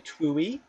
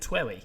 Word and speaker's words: TWEWY: classically Kingdom Hearts, very twooey. Twooey. I've never pronounced that word out loud before. I pronounce it Twewy because it's my favourite game in the entire world.